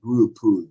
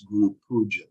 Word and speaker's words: Guru Puja: about parikram, or they say things, sometimes the pronunciation is a little funny. It's parikrama, not parikram. Or they'll say Guru Puj, it's Guru Puja.